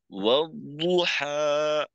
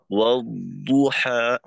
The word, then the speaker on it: والضحى: والضحى. والضحى. والضحى. তেলাওয়াতের ক্ষেত্রে আমাদের একটু সতর্ক থাকতে হবে। আর এখানে দদের ক্ষেত্রে আওয়াজটাকে একেবারে আটকাই দেওয়া যাবে না। ওয়াদ এভাবে না হয় ওয়াদ, ওয়াদুহা, মাখরাজে আওয়াজের গুঞ্জনটা চালু